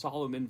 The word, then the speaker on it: Salomon: that I had and the kind of, the Salomon, it has to be what it's pronounced, Salomon vest.